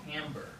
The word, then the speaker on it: timbre: It's And they sound They sound similar and it's called tamber. And we're going to be talking about tamber. T I M B R It's It's uh spelled like timber.